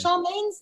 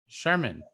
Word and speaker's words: Charmin: Is Charmaine's name spelled like the toilet paper, David? Will you stop calling her Charmaine? Is it Charmaine? There's no A there. Charmin. No, it's not Charmaine.